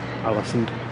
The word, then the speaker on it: Ålesund: Highly recommended if you like your craft beers, and you come to Ålesund. Yeah, very fun. Ålesund. I'm trying to get all the pronunciation.